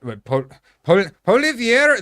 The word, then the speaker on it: Poilievre: And yeah, we got Poilievre, the conservative leader. What can any of you guys pronounce his name?